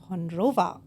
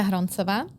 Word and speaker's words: Hroncova: Welcome to me Dom, but welcome Hondrova. Not really. Okay, but I will take it. I will take introduce yourself. Hello, I am Harona and this is how you pronounce my surname correctly.